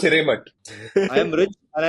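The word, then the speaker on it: Hiremath: Oh, it's not DJ Khalid, but it's the co-founder of Loom, Vinay Higher Math. Anyway, Hiremat. in a blog It's post, pronounced Hiremat.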